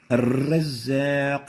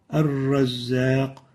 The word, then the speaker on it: الرزاق: الرزاق without الرزاق. You have to realize that mild repetition is a proper characteristic of the ra. But the wrong thing is to overdo this, to exaggerate the repetition.